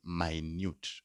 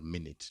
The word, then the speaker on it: Minute: watch the pronunciation yeah don't say minut or minute no minut di if it's one and